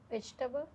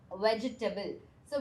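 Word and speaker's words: vegetable: word ഇതാണ് ഇതെങ്ങനെ പറയാ വെജിറ്റബിൾ വെജിറ്റബിൾസ വെജിറ്റേബിൾ എന്ന് നമ്മൾ പറയാ നോട്ട് വെജിറ്റേബിൾ ജസ്റ്റ് ബിക്കോസ് ഇവിടെ ടേബിൾ ഉള്ളതുകൊണ്ട് നമുക്ക് ടേബിൾ എന്ന് പ്രൊനൗൺസ് ചെയ്യാൻ പറ്റില്ല ഇത് വെജിറ്റബിൾ ആണ് എന്താ പറയാ വെജിറ്റബിൾ ഓക്കേ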